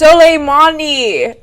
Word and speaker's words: Soleimani: It's Soleimani. It's literally not that hard to pronounce.